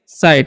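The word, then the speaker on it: sight: तो एस आई जी S teach तो इसमें पढ़ेंगे साइड। यहां पर जी एच साइलेंट होता है।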